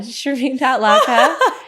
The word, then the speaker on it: Shermin: It's spelled like Sherman, pronounced Shereine. It's S H E R M I N L A K. And I'm standing by that. I'm never going to change that. Uh, Shireen.A.